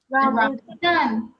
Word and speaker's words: rambutan: But what's the name of Rambatan, I it? think. Rambatan or something. Is the name of it, Rambatan. sir. Somebody help me out with the pronunciation. Rambutan.